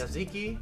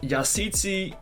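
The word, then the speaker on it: Yazıcı: It's I think it is Yaziki. Yes, Yazici, playing for Turkey.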